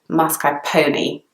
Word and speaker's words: mascarpone: people pronounce it mascarpone some people pronounce it mascarpone and the pronunciation that's kind of most commonly heard in the UK in British English is mascarpone the next word which